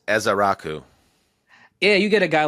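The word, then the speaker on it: Ezeiruaku: said it right I did I looked it's ezar Raku yeah you get a guy like that or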